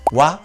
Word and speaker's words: 羽: Y es el contador, este kanji, se lee wa cuando es contador, se lee wa, así.